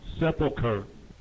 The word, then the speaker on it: sepulcher: sepulcher. It's almost like sepultura.